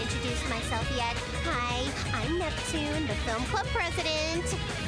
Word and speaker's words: Neptune: Hi, I'm Neptune, the film club president. Neptuna!